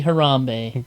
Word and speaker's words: Harambe: And then Harambe. people started commenting. It's like, Oh. please say it correctly. Don't disgrace his name. It's Harambe. Harambe, guys. Harambe.